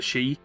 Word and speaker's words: Sidhe: I spoke to like an innkeeper in an area called the She, spelled Sidhe, but pronounced she, which is interesting.